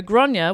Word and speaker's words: Gráinne: oh yeah the arcade yeah so okay so gronya was in was the only child of maeve